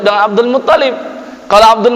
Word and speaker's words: Abdul Muttalib: Hashim itu adalah kakek kedua Nabi sallallahu alaihi wasallam setelah Abdul Muttalib, ya. Jangan dibaca Abdul Muttalib, ya. Jangan dibaca Abdul Muttalib juga, tapi yang benar Abdul Muttalib, ya. Syiddahnya, tasydidnya ada di huruf ta.